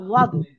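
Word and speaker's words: ضاد: আর ওটা জোয়াদ হবে না, দোয়াদ হবে না, ওই দুটোর মাঝখানে উচ্চারণটা থাকবে, বুঝতে পেরেছেন? জি, ওটা হবে সোয়াদও হবে না, জোয়াদ হবে না, ওটা হবে ওয়াদ। বুঝতে পেরেছেন? পরিপূর্ণ যে হ্যাঁ হ্যাঁ উচ্চারণ হবে ওটা হবে ওয়াদ।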